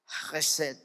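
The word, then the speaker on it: חסד: Y algunos que hablan correctamente hebreo, la pronunciación sería Hesed.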